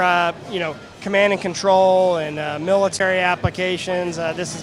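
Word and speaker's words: Ctrl: newest software platform right which is spelled CN or c-tr-l exactly yeah so fully scalable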